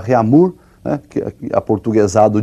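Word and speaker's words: Réaumur: é a escala reamur que nós vamos pronunciar reamur né que a portugues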